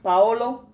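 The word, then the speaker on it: Paulo: Alchemist right now by Paola coila so Viola Paolo that's how you say his name and I've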